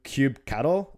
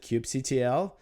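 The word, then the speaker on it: kubectl: kubernetes all of like if you do cube cattle die a command-line some people pronounce that cube CTL which is wrong but if you run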